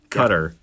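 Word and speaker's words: Qatar: by the way yeah it's about Q a TA our cutter because that's how you spell that yeah it's just stabbing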